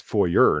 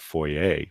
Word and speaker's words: foyer: It's foyer, not foyer.